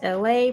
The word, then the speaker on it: Elay: My name is LA, pronounced like LA like the city.